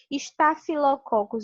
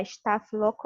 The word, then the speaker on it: Staphylococcus: como realmente se escreve está se lococcus eu prefiro falar status louco ou seja para staphylococcus